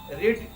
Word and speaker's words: read: रेड, READ, रेड, रेड, मतलब spelling change नहीं होगा। हम यहाँ पर लिख के दिखा देते हैं V1, V2 और V3। ये हो गया READ, रेड, तीनों का स्पेलिंग सेम रहेगा। पढ़ेंगे हम लोग रेड।